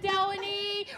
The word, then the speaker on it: Delaney: And my dear friend Delaney rhymes with felony.